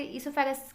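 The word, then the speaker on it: oesophagus: ऊसोफेगस से ईसोफेगस क्या हो सकता है, सिर्फ और सिर्फ, यहाँ पर ऊ साइलेंट है बेटा, ईसोफेगस जो होता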